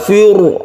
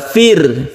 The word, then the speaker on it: Firaun: jadi membacanya tidak tebal Fur Bukan tapi yang betul adalah Fir Fit tipis cara menipiskan untuk